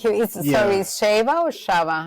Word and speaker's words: Shava: But because I am from Ensanada, people pronounce the ch with like sh that is shaba because the pron pronunciation change.